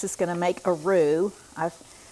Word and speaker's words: roux: This is going to make a roux. I've said this before. It's spelled R-O-U-X, and what you normally see talking